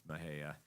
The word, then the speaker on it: Mexia: Looks like Mexia, but it's Mahia.